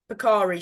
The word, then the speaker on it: Bakari: Pickery, Piker, is it? Is that how you say it? Picari, Picari. Bakari, sorry.